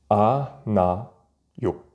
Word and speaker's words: 않아요: A, na, yo. Ici, le hiet, le H expiré ne se prononce pas.